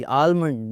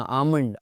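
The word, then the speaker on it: almond: के कहाँ साइलेंट है, एल कहाँ साइलेंट है जी, आलमंड नहीं बोलना, आमंड, आमंड, आमंड, बादाम, आलमंड जी, मैं आलमंड लेके जा रहा हूँ, आलमंड लेने जा रहा हूँ, इट्स नॉट आलमंड, आमंड।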